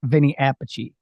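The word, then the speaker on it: Vinnie Appice: pece and Vinnie is Vinnie Apache they like separate the pronunciation of their same name even though they're related correct I believe they're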